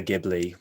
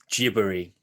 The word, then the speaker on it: Ghibli: However, because in Japanese, the soft G is not necessarily a word that a sound they use in their phonology. So Ghibli would be how they pronounce that word. And so it became Ghibli from that.